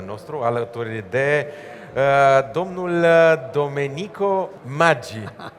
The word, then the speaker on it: Maggi: Domnul Domenico Maggi, am zis bine? I said it right? Maggi.